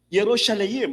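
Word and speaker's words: ירושלים: Now in the Hebrew word Jerusalem ang pronunciation niya ay Yerosalim. Yerosalayim.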